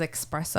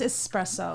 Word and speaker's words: espresso: you say it wrong she says expresso oh yeah it's espresso it is yeah like you